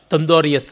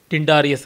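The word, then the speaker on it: Tyndareus: ಆರ್ಗಾಸ್ ಪಟ್ಟಣದಲ್ಲಿ ಒಬ್ಬ ತಂದೋರಿಯಸ್ ಅಂತ, ಟಿಂಡಾರಿಯಸ್ ಅಂತ ಇಂಗ್ಲೀಷ್ದಲ್ಲಿ ಉಚ್ಚಾರಣೆ, ಅವನು ರಾಜ ಇದ್ದ.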